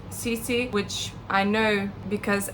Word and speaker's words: Sisi: Okay, straight away I will say that she did say Cece I think at the beginning. So, uh I think that cleared it up for me that she does pronounce it Cece.